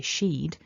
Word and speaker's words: she'd: with sheed sheet and this is the same pronunciation as the contracted form of she would so you might be thinking to yourself well if i hear somebody say she'd how do i know